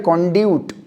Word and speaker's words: conduit: Blood कॉन्ड्यूट, CONDUIT, कॉन्ड्यूट, blood कॉन्ड्यूट, यहाँ पे लिखा हुआ है ना, ये स्पेलिंग दिख रही है आपको, राइट?